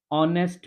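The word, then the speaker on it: honest: ball I am dash ऑनेस्ट बॉय ठीक है अब यहां पर क्या है एच है बट हम एच तो हमारा होता है साइलेंट तो साउंड किसका आएगा ऑनेस्ट ओ का साउंड आ रहा है तो ओ क्या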